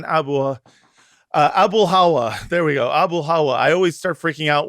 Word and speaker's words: Abulhawa: That's how you remember that one. It's Abul, how are you?